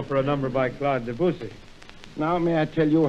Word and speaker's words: Debussy: nice title for a number by Claude Debussy. Now, may I tell you how to pronounce Debussy's name?